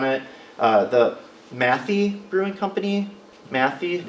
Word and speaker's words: Matthey: The Matthey Brewing Company, Matthey, you're nodding your heads correctly for the pronunciation, that had terracotta.